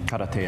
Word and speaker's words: karate: My name's and I've been training for 6 years now in karate and taekwondo. Okay, he gave the Japanese pronunciation of karate.